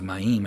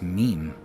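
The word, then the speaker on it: מים: So again, you can see in modern Hebrew, they would say ma'im. So they put a default vowel a there, but I don't believe it was ma'im. I believe it was just meme. It was the waters. It was meme.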